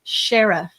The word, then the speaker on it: sheriff: and the administrative assistant to the Earl was called the Shy Reef. We pronounce it sheriff.